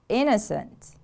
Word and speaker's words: innocent: unpleasant aspects of life innocent the stress is on the first syllable innocent repeat after me